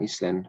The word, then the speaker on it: island: Bukan island, bacanya island. S-nya dihilangi, island.